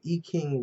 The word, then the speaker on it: I Ching: and i got it from the e king readings um which uh uh is spelled this way okay it's in beijing i ching and some places that want to pronounce it american but anyway it answers